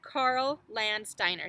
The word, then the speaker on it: Landsteiner: Karl Landsteiner.